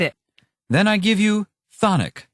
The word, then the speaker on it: chthonic: Well, the first C is silent. And not to mention the first H. Whatever. Thonic means having to do